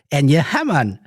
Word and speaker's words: Enja Hamman: It's the host of Radio Sega's individual, the individual known as Enya Hammon. Hello. Did I pronounce it correctly?